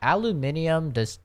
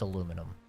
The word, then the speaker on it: aluminum: Yeah, aluminium, that doesn't even make sense. It's aluminum. Literally aluminum. That doesn't even make sense, okay? I'm the chemist. I know how it's pronounced, alright? It's aluminum.